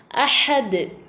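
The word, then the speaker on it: أَحَد: அஹது அதில் லாஸ்ட்டில் உள்ள இந்த தால் கல்கலாவுடைய எழுத்து ஆயத்தினுடைய கடைசியில் வந்திருக்கனால இது கல்கலா குபுரா. அப்போ நம்ம நல்லா அசைச்சு ஓதணும். அஹது அஹது அல்லாஹு ஸ்வமது.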